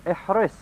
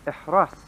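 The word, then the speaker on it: احرص: He's saying ihris, which can also be pronounced ihras, with a fatha on the ra also.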